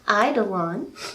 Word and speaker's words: eidolon: uh the idol and you say it like is american idol on that's how you say it and so you